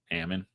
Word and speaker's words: almond: Is it Ammon or Almond? Ammon. People not from Northern California though are freaked out. Like I said Ammon one time. Oh yeah, people freak out here.